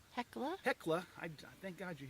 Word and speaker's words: Hecla: was our campsite for the evening at the helica hekla hekla i thank god you're here to help correct my pronunciation stuff melody the heckler junction uh campsite